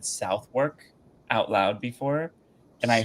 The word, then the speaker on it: Southwark: It's pronounced Southwark. So it's not South, South, and then not work.